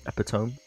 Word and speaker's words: epitome: cuz then we see you picked me of what you can play you know I believe is pronounced epitome always having this great